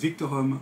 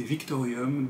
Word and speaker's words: Victorum: de la campagne de Hoplomachus Victorum que j'ai prononcé Victorium dans ma vidéo de règles, c'est la honte sur 12 générations, voire au-delà.